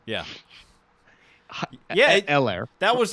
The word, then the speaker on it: Helaire: H is silent? Yeah. Yeah. Helaire.